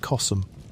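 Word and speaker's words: Kos: Her name was CS, which you may say simply as CS, though some pronounce it Csum.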